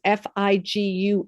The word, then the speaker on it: Figue: French spelling which is fi guu e although it's pronounced fig just like here in America um and so we've